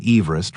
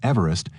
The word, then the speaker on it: Everest: Everest who pronounced his name Everest rather than the more commonly heard Everest not only never saw